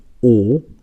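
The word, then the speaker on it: ㅗ: So the key difference between these two is that when you pronounce this one, you have smaller circle of your lips. So you have O compared to this, and this is Aw.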